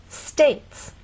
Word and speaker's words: states: vowel sounds two syllables States how many vowel sounds one a this word reminds you that sometimes you may see a vow but it's silent E is often a